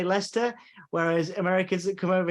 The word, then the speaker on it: Leicester: It's funny because you know how to say Leicester, whereas Americans that come over here, they go Leicestershire.